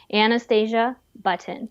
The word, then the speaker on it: Anastasia Button: on all those platforms is my name Anastasia button spell it and a n a s t a s i a b TT o n just like cute as a button and Anastasia the princess you're you're not related